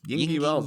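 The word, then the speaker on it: Yngwie: How do you pronounce his first name? Yingy Malmsteen.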